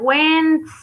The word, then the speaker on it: when: el pétalo del día bueno recuerden que se pronuncia wen peit lado y la que no suena en